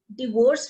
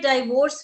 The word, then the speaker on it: divorce: बच्चे दोनों ठीक है, डिवोर्स भी ठीक है, डाइवोर्स भी ठीक है। डाइवोर्स। हाँ जी, डाइवोर्स भी ठीक है, डिवोर्स भी ठीक है, मेनली अपन डिवोर्स यूज कर रहे हैं, है ना।